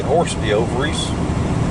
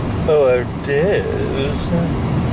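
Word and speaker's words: hors d'oeuvres: Well, that's the way it's spelled anyway, horse de ovaries. But I think a lot of people pronounce it hors-d'oeuvres.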